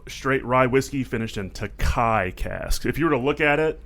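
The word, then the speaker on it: Tokaji: a blend of straight rye whiskey finished in takai cast if you were to look at it it looks like it would be pronounced takaji but uh it's a Hungarian wine cask and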